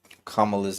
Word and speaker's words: Kamala: People really get upset when Kamala's name is pronounced the wrong way.